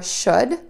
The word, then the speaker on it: should: The words again are should, could, and would. Keep in mind, we are not going to say the letter L that is in these three words.